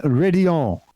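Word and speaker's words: Raidillon: or to signature corners Oh Rouge and ready all officially are the pronunciations for both of those and they actually stem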